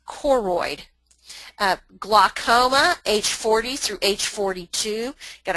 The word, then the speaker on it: choroid: CH, and it's not choroid, they're choroid. It's actually a K sound, so it's choroid.